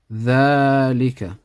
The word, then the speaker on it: ذلك: ذلك. We read it like this, but we write it like this. So there's an alif here which is pronounced but not written.